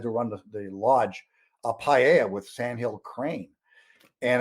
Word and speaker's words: paella: you how to say it first though it's paella so though you know i went on a